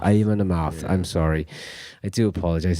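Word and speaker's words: Amon Amarth: Because Bathory also went on to spawn Viking metal, which is it Amon-Aroth? I never pronounce that right, but Amon-Amarth. Amon-Amarth.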